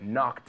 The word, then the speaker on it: knocked: Knocked out. It's like knife. All right. The same K.